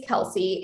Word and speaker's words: Kelsi: serves right so um my first name is kelsey and it's spelled k-e-l-s-i which is um actually from the